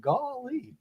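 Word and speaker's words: Gauley: I mean, maybe not as bad as Gory and Defeated, but depending on how you say it, Buffalo Creek and Golly.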